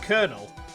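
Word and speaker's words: colonel: sound of the buzzer why the heck is it pronounced konel and he still has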